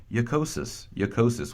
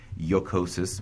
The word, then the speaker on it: jocosus: In medieval Latin, you're going to see that as a J, but it's pronounced more like a Y, right? So jocosus, funny.